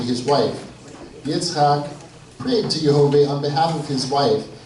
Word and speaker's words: Jehovah: Once again, if you hear me saying Jehovah, that's the way that I pronounce the proper name of God, as symbolized here through the YHWH, or in Hebrew, Yud He Vav He.